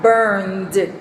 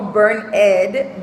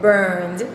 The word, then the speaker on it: burned: Bien, tenemos burn, que es quemar, se escribe con ed, pero se pronuncia burned, no burned, burned.